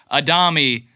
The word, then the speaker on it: Adami: So it's like, oh yeah, it is Adami, right? It is. So, but all that to say, Adami, technical pronunciation.